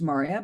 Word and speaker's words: Maria: My name is Maria, pronounced Maria, but you can call me.